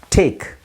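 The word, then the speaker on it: talk: silent ಆಗಿರುತ್ತೆ ವಾಕ್ ನಡೆ ಟಾಕ್ L silent ಆಗಿರುತ್ತೆ ಮಾತಾಡು ಶೇರ್ ಹಂಚು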